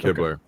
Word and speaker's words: Hibbler: The artwork behind the game, is that Eric Hibbler? Is that how you say it? Yeah, Eric Hibbler. Because we'd say Hibble down here, so I want to make sure I get it right.